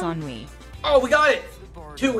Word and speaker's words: Ennui: It's Ennui.